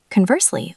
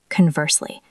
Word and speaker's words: conversely: The stress is on the second syllable. Conversely, not conversely.